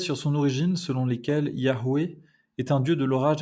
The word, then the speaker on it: Yahweh: Yahvé ou Yahweh, avec la prononciation hébraïque originelle, signifierait donc il est, il sera ou il vit.